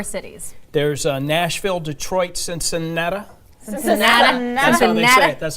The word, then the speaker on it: Cincinnati: Cincinnati.